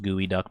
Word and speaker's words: geoduck: It's pronounced gooey duck.